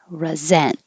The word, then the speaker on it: resent: than the verb famous the verb resent the s sounds like a z resent the adjective recent the